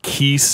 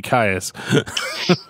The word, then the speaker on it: Kyuss: I always just said kaas right but I heard somebody calling them like Kei or but I was like no that's too much like Kiss it's got to be Ka I have never heard